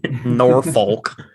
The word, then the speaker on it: Norfolk: Hey, I did say Norfolk, very overpronounced when I first came here. Norfolk.